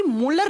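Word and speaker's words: Mulder: इसकी खोज की थी मूलर नाम के साइंटिस्ट ने है muelder लेकिन इसको प्रोनाउंस करते हैं तो दी साइलेंट हो जाता है इसे मोलर बोल दिया जाता है फिर ये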